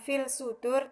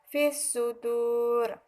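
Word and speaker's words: في الصدور: Cara membacanya yaitu dimasukkan alif lam itu ke dalam huruf shad tersebut. Jadi cara membacanya bukan fil sudur tetapi fis sudur.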